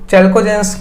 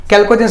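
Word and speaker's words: chalcogens: इनको चैल्कोजेंस या कैल्कोजेंस बोलते हैं, चैल्कोजेंस नहीं, यहाँ पे एच साइलेंट है।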